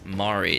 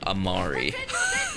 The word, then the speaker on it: Mari: Oh, it's Mari, not Amari.